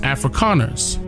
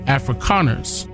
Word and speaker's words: Afrikaners: calling themselves africans but it's pronounced afrikaners with the k afrikaners and their native tongue